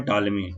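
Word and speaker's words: Ptolemy: और ध्यान दीजिएगा, जब टालमी का हम लोग स्पेलिंग लिखते हैं तो पी से स्टार्ट होता है, टी, पी इसमें साइलेंट रहता है वाला।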